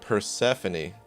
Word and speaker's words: Persephone: Oh man, I was still saying it wrong. Okay. Persephone. Persephone. Okay. Okay. So Persephone is how it's pronounced.